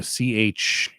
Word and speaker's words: Chiara: Kiara in Italian, same pronunciation, but a different spelling. Chiara, I think. Mm-hmm. is the Italian version of Claire.